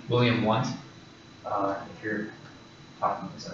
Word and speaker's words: Wundt: the leadership of Wilhelm Wundt. So he was a German, so those W's are pronounced as V's.